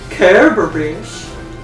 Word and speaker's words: Cerberus: Cerberus. Cerberus. Yeah. No, the people that have the hard C sound there are fools.